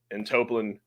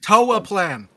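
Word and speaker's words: Toaplan: the Capcom, Irem, and Toplin, which is a lot of fun. Toa Plan. You said potatoes. I know you'll. If you're gonna pronounce it incorrectly, do it on purpose.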